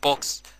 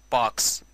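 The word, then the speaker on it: box: مثلا كلمة دي احنا بنقول عليها بوكس، بس نطقها الصحيح مش بوكس، نطقها الصحيح باكس بالامريكان، او زي ما انتوا شايفين وجربوها.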